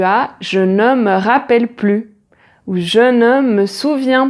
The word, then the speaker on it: plus: je ne me rappelle plus ou je ne me souviens plus ou je n'en peux plus. Et dans ces trois phrases, le S est muet, on ne le prononce pas.